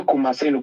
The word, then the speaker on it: Kumasenu: Boy Kumasenu. Kumasenu is spelled it's Boy Kumasenu.